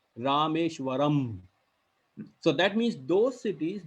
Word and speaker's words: Rameshwaram: ending in am um the sound of pronunciation would be am rameshwaram you get the tone rameshwaram so that means those